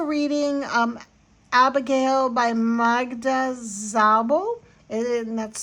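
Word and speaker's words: Szabó: Um, then I'm also reading um Abigail by Magda Zabo and that's spelled S Z A B O with an accent mark.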